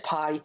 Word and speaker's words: PIE: Because she then went on to explain in her email that when she says pie, as in Proto-Indo-European, when she says pie, it rhymes with I.